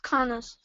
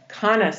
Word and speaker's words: Cannes: It's pronounced Canis. Thank you. Canis.